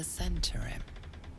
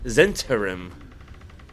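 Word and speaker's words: Zhentarim: The winged serpent of the centurim. These must be the goods that rower agreed to move into the city. I've been mispronouncing that this whole time. Zenturim.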